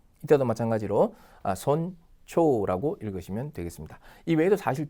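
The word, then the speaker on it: 尊重: 또 뭐가 있습니까 신중하다 그때도 그죠 신주가 아니라 신초라고 읽으셔야 되죠 신중하다 그다음 뭡니까 누구를 존중하다 할 때 이때도 마찬가지로 손초라고 읽으시면 되겠습니다이 외에도 사실 좀 많이 있습니다 더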